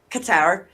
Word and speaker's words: Qatar: Well, Qatar. Well, if I was about to pronounce it very correctly, it's Qatar.